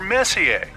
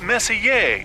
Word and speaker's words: Messier: Well, young lady, the M stands for Messier. Pronounced Messier, not messier, as in is your room messier than mine?